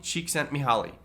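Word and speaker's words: Csikszentmihalyi: how do you say melhali's name again holly cheek sent me holly that's his name and he is the preeminent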